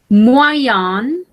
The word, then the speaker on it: moyen: Moyen, moyen, medios, oui. Moyen. La prononciation, c'est moyen.